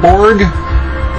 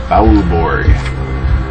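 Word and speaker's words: Beaubourg: favorite and it's evangelis Borg it's b e a u b o u r g Borg and this is really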